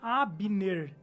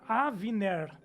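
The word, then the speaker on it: אבנר: É o capitão da guarda de Davi, e ele tem, a pronúncia do nome dele não seria Abner, seria Avner, que Olha é a só.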